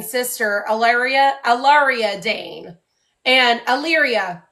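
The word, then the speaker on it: Allyria: allia aaria Dane and Alyria ayria that's how you pronounce it and now I'm leaning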